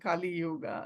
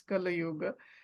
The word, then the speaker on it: Kali Yuga: doing the meditation because Kali Yuga pronunciation was wrong. She was saying Kali Yuga. It is not. It's Kali Yuga.